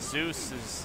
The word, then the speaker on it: Zeus: No, like, you might be thinking of Deus. Like, 'cause there are words that are pronounced that way, but Zeus is typically pronounced the way I pronounce it. I think, like, I don't think I've ever heard anyone pronounce it the other way, but, like, Deus